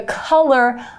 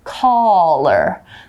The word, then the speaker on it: collar: with color, like the color of your hair, the color of something where it's red, yellow, green, blue. Now, color is how you pronounce that, but this is collar.